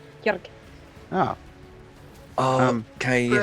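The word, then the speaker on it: Kerig: You're Kierg? Kirk. Oh, Oh, can you Brew. spell that?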